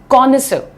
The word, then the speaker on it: connoisseur: तो उससे हम ये वर्ड से बुलाते हैं, प्रोनाउंसिएशन ध्यान से देखो, कॉनिसर, कॉनिसर, ही इज अ कॉनिसर of music, यानी